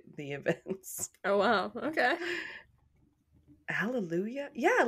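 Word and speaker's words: Alléluia: events oh wow okay Hallelujah yeah like Hallelujah but without the age kind of interest and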